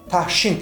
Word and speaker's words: Тагшин: The phoneme "Г" [ɡ] can lose its resonance at the end of a word and before non-resonant consonants: Тагшин (Sediment) we use this word more in a non-official language.